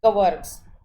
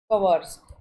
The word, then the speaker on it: kwargs: हैं, अर्क्स, अर्क्स बोलते हैं शॉर्ट में, अर्क्स कवर्ग्स, कवर्स, तो इसको प्रोनाउंसिएशन ऐसे भी करते हैं, या आप आर्ग्यूमेंट